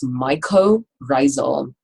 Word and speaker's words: mycorrhizal: This is mycorrhizal. Myco part of this word, mycology, study of fungus. Myco refers to fungi. Rhizae refers to root.